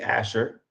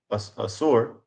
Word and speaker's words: Assur: Woe be unto thee, Asher, or excuse me, Assur, which that would be the I guess that would be the nation of uh Ashur. It's kind of tough for me to pronounce. I'm trying not to say Asher because that's a tribe in Israel.